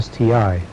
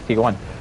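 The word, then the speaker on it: ST-I: this tank, you know, some people may argue if it's pronounced ST1 or STI. And the answer is both, actually. Technically, no, it's not. It's ST1. Because they proved it. The I is a Roman numeral 1.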